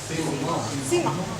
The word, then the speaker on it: Simon: My husband is Cajun French, but it's pronounced, because people always ask, and this is why I mention it, but it's pronounced Simon. Simon, yeah.